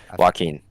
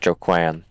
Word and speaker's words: Joaquin: Joaquin, not Joquan. Joquan. Joanne Favre. Joquan is his second name. But obviously that's not how you pronounce it, right? You pronounce it Joaquin, but obviously, both I